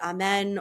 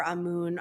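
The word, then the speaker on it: Amun: the god amoon um you could pronounce it amen or amoon I I'm guided to say amoon who was at the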